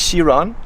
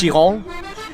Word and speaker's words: Chiron: we referred to before ettore bugatti so luis shiron i didn't pronounce that perfectly luis shihong louis okay was apparently a dance partner over